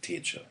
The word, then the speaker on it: Tetje: Ja, und die richtige Aussprache ist Tetje. Also oftmals werde ich gefragt, wie wird es dann richtig ausgesprochen? Tetje, Tetje, Tetje. Aber die einzig richtige Aussprache ist Tetje.